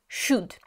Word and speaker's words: should: І це модальне дієслово should.